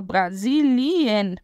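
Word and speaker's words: Brasilien: é o Brasil Brasilian atenção para pronúncia né vou falar Brasilian Brasilian que é o Brasil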